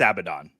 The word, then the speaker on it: Abaddon: It's Abaddon.